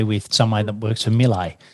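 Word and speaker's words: Miele: someone that works for milay so melee you know is the premium white goods manufacturer i'm sure you all heard it might pronounce a little differently in your country i'm in australia but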